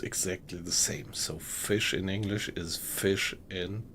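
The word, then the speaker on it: Fisch: So fish in German is fish. Only difference is the spelling.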